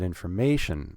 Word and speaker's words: information: So you have to put stress on the word information to get information about our strings. Information, 4 syllables, we're going to put stress on the third syllable.